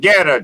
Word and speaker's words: Goetta: We're talking about Geta, Joe. You ever heard of Geta? No, I'm learning something here. It's spelled Goetta.